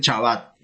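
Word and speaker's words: שבת: En Centroamérica, por ejemplo, no pronuncian Shabbat, pronuncian Chabat.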